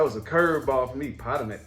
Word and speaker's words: Potomac: you pronounce this hahaha how did you pronounce it potamac how to make that's not like a Pokemon I never heard nobody say Potomac until you came into